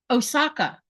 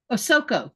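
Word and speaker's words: Ahsoka: Osaka. Did I just say her name right? Osoko. That's her name.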